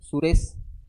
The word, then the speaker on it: सुरेश: ठीक है, तो ए का प्रोनाउंस हो रहा है सुरेश।